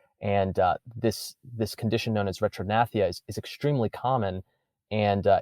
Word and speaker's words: retrognathia: How do you pronounce that? Retrognathia? Yes, retrognathia. So it's retrognathia.